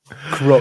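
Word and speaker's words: kro: know ego but skills Crow you you pronounce like Crow right yeah in the bird yeah really okay yep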